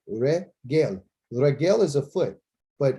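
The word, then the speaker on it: רגל: And then you got the three dots, again. And the final's L, lament. So it's regel. So that's how you say it, regel.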